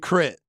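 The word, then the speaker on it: K.R.I.T.: introduce me who is he this is big crit okay Big crib uh spell it k-r-i-t k-r-i-t big crit okay crit became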